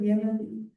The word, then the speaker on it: Yemane: Nazareth Yemane. Correct pronunciation of your name?